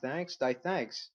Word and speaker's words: DTH: Second, there was a post by DTH, pronounced Thanks, titled, No one raids for guns.